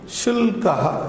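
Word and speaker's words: शुल्कः: There are no silent letters in Sanskrit, like in psychology, pseudo in English. Shulkaha. When I am pronouncing Shulkaha, Shulkaha, Sh-U-L-K-Ha. I write in the same way.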